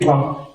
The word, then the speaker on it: Ntwangu: Did you notice that I made a mistake in pronouncing my name? Most of you didn't. But let's try again. My name is Ntwangu.